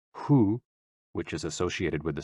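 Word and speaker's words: hoo: which is also associated with the kidneys h-o-o pronounced like who which is associated with the spleen and x-i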